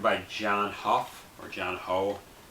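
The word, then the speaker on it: Hough: These are both directed by John Huff, or John Ho. I assume it's pronounced John Huff.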